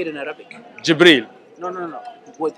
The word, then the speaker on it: Jibril: angel how do you say it in Arabic jibril no no no it was his title Malik